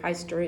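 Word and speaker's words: Pfister: sure we pronounce it feister in the united states it's actually a fairly common german surname so i would pronounce it as fister sister and i'm actually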